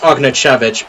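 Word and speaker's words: Ognjenović: Pronounced Ognjenovic, but still, this guy is lethal. Okay. Ognjenovic. I'll remember that.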